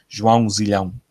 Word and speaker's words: João Zilhão: João Zilhão. That's how you pronounce it. Spelled J-O-A-O with a till on top of the A. Z-I-L-A-O. Zilhão. It's Portuguese.